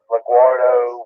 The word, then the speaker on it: LaGuardo: Did they say LaGuardo? Yeah, they call it LaGuardo, whatever you want to call it.